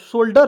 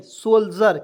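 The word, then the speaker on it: soldier: पढ़ेंगे दोस्तों क्या पढ़ेंगे शोल्डर पढ़ेंगे नहीं सोल्जर क्यों क्योंकि डी के तुरंत बाद आई आर आता है तो इसका उच्चारण ज के रूप में होगा ज हो गया ना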